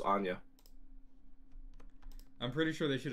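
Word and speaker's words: Anje: your own house but I'm pretty sure it's pronounced Anya I'm pretty sure they should have spelled it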